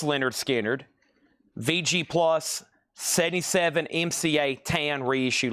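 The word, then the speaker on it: Lynyrd Skynyrd: The Leonard Skard in here are second helping MCA7 reissue label pronounced Leonard Skard VG+ 77 MCA tan reissue label.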